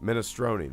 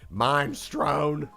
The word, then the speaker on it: minestrone: in the house it the super is pronounced mina stroney minestrone that makes more sense than mime strone y'all you call any